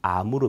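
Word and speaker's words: Амур: 있습니다 아서 금강 인데요 이 흑룡강 의 느 시아 발음이 아무르 입니다 그래서 아무로 강연 하네 이제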